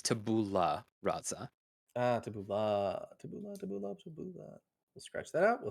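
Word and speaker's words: tabula rasa: time please forgive me I mispronounced it wrong because I was I was trying to fit his accent I messed it up it is tabula razza we'll scratch that out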